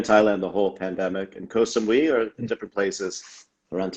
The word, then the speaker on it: Koh Samui: I said Koh Samui, maybe I'm saying it wrong, but No, that's right.